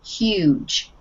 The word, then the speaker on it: huge: The first word is huge, huge, Huge. huge, and we pronounce the H, huge.